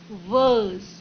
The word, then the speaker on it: verse: Verse, V-E-R-S-E will be pronounced as verse. R won't be pronounced because there is a vowel sound before R.